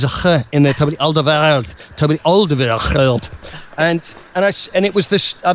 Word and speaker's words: Alderweireld: Now, I'm going to get the pronunciation right because there's a ch in there. Toby Alderweireld.